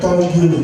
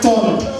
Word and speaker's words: tongue: I said, please, that word is pronounced rogue. She said, okay, it's a slip of tongue you.